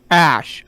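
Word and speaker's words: Æ: letter X and then AE is pronounced ash okay okay it's pronounced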